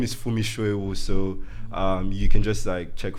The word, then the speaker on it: Funmi Soewu: My handle, my name is Funmi Soewu, so you can just check for Funmi Soewu, FUNMISOEWU.